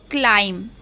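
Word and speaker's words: climb: देखिए, सी को आधा का इसलिए पढ़े हैं क्योंकि उसके बाद कोई भी वोवल्स नहीं है, यानी कि कोई भी मात्रा नहीं होती तो उसको आधा पढ़ा जाता है।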